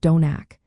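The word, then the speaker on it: Domhnach: Finally, we have Sunday, which is Domnek, pronounced Donak.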